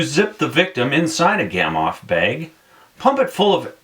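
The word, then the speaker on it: Gamow: A Gamoff bag, pronounced Gamoff, was invented by Igor Gamma, in the late 1980s and has saved a lot of climbers from dying of hape.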